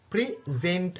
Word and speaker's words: present: அதில் ரெண்டாவது சிலபிளில் தான் நாங்கள் ஸ்ட்ரெஸ் கொடுக்குற, முதலாவது சிலபிளில் அல்ல. இது எப்படி, ஹவு டு ப்ரொனவுன்ஸ் திஸ், இது எப்படி வச்சிருக்குன்னு பாருங்க. ப்ரெசென்ட், ப்ரெசென்ட். ஃபர்ஸ்ட்டுக்கு ப்ரீ என்றதை மெதுவாக சொல்கிறேன், ஜென்ட் என்றதை சவுண்டை கூட்டி சொல்கிறேன், ப்ரெசென்ட்.